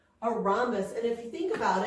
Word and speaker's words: rhombus: are you ready for it it's called a rhombus Aramis that each is silent a rhombus and if you think about it I guess